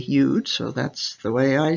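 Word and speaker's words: יוד: By the way, the letter can either be pronounced Yud or Yod. I was taught to say Yud, so that's the way I say it.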